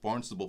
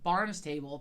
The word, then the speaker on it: Barnstable: So he calls the Barnstable, and yes, that's how you say it, Barnstable Police Department. When we first went, I called it, it's a talent, I called it Barnes Table because it looks like the word Barnes.